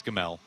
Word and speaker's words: Gamel: It's Gamel. Please say it properly.